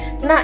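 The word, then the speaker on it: 捺: Nah, itu arahnya ke arah kanan. Tapi tetap dari atas ke bawah bacanya na.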